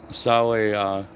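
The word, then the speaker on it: Samhain: So Sam Hain is pronounced Sawe.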